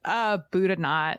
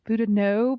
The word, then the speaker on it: Boudinot: It's Boudinot. Yeah. Boudinot. Yeah. Elias yeah, I Boudinot. think the proper pronunciation is Boudinot, but Boudinot. in here in Eastern Oklahoma we say Boudinot.